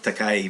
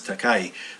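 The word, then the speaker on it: 高い: thing like we hear takay versus takasa uh you know the fall is on the first syllable and whereas takay the it rises pitch on the first and then falls on the second um um i guess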